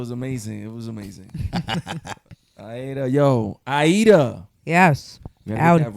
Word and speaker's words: Aïda: En el Cibao we use the E. Oh. Aïda. That's how you say it in Spanish?